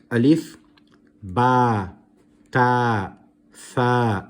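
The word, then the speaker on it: تاء: are pronouncing these letters, some people tend to pronounce them as alif, be, te, the. That is incorrect. That is from the Urdu alphabet, not the Arabic.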